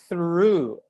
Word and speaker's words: through: pronounce it through through first th sound you have to stick your tongue out and put it between your teeth you make you make the sound through through through gh are silent you do not pronounce them that's the through